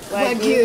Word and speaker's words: Wagyu: How do you say it? Wagyu. Yes. I've been saying it wrong.